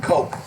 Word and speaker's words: Koch: named one of the cook brothers died today you know David Cook coke I guess that's how they pronounce their name and someone asked the